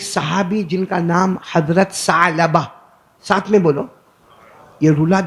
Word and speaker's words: ثعلبہ: ثعلبہ، بیچ میں عین ہے نا، اس لیے میں عین نکال رہا ہوں. ثعلبہ. انگریزی میں آپ لکھو گے تو وہ عین کا تلفظ نہیں ہوگا، لیکن عربی زبان میں حضرت ثعلبہ.